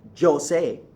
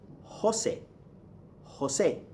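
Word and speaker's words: José: So for example, you don't say Jose for Jesus, for Jose, right? The name Jose that everybody in America calls Jose, okay? It's not Jose, it's Jose.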